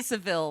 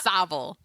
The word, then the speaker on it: Savile: I used to say Savile like the first It's year not we were on the air. Savile. It's Savile.